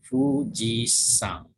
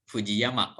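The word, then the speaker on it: 富士山: Fujisan. Jadi kalau di Jepang sini namanya ini dibacanya sang. Tidak dibaca yama ya. Jadi tidak dibaca Fujiyama. Orang Jepang membacanya Fujisan.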